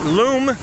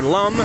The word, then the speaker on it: Lum: You cross the street, it turns into Street Loom, or Lum. L-U-M, however you want to pronounce it.